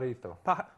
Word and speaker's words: Pajarito: Right now, here on our very first pilot edition, we have local musician himself, Pajarito. Is that how I say it? Say it right? Pajarito.